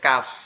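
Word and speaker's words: ق: এটা কিভাবে উচ্চারণ হবে? জিহ্বার মধ্যকান উপরের তালুর সঙ্গে লাগবে, অর্থাৎ গোড়ার থেকে একটু সামনে উপরের তালুর সঙ্গে লাগবে, লেগে আওয়াজ হবে কাফ, কাফ, কাফ, কাফ।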